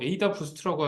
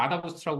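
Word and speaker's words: AdaBoost: 그래서 제일 처음 제시됐던 거는 어댑티브 부스팅이라고 해서 뭐 아다 부스트라고도 하고 뭐 에이다 부스트라고 해서 이거 뭐 말씀하시는 분들마다 다 조금씩 다르긴 하더라고요. 그래서 저는 그냥 아다 부스트라고 읽는데 어댑티브 부스팅이라는 방식을 제안을 했었어요.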